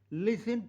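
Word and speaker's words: listen: ये के साइलेंट है लिसन टू लिसन एल आई एस टी ई एन लिसन में टी साइलेंट माइट शक्ति के लिए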